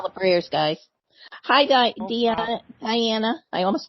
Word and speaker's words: Dianna: prayers guys hide idea Diana I almost called you Deon haha hi Mary Margaret hi in german it's pronounced Tiana is it yeah I